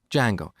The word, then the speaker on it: Django: So, it's spelled with a silent D and it's pronounced Django.